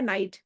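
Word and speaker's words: knight: लिखा हुआ है नाइट। स्पेलिंग है के एन आई जी एच टी। लेकिन प्रोनंसिएशन है नाइट।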